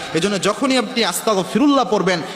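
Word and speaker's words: أستغفر الله: ইস্তেগফার আস্তাগফিরুল্লাহ পড়ার সময় অনেকে আস্তাগফিরুল্লাহ পড়েন, ক উচ্চারণ করেন, তাহলে অর্থ হয়ে যায় আল্লাহ রাব্বুল আলামিনের উপর আমি কুফরি করলাম, আল্লাহর কাছে মাপ চাওয়া তো দূরের কথা, এর অর্থই পরিবর্তন হয়ে যায়।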